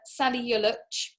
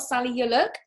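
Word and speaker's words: Salih Yoluç: that one yet uh sally yolich i've been told that that's how you pronounce it by somebody by a turkish person not sally you look um now he has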